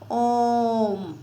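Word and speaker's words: ओ३म्: यह एक्चुअल में ओम नहीं है। यह मात्रा लगी हुई है कि इसको देर तक उच्चारण करना है। कैसे? ओम।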